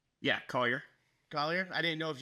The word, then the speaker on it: Collier: Yeah, Collier.